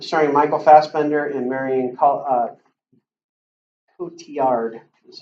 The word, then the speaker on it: Cotillard: context Macbeth start starring Michael Fassbender and Marion Cotillard is how you pronounce that another Shakespearean play alright so any